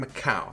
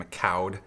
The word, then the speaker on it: Micoud: about his performance so kevin macau apparently i pronounced it wrong at the beginning of the video i said kevin mccowd number one thought that